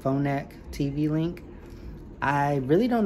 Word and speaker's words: Phonak: This is a Phonak. That's how you say it, Phonak TV link.